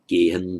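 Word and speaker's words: gehaṃ: The boy runs home is kumaro gehan dhavati, written with the anusvara, subdotted and written as geham dhavati, pronounced gehan dhavati.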